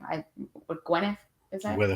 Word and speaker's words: Gwyneth Paltrow: I Gwennneth is that Gwyneth Patro.